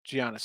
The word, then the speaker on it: Giannis: It's Giannis. Has a G in front of his name.